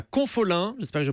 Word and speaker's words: Confolens: un festival de danse et de musique à Confolens. J'espère que je prononce bien. Confolens, oui.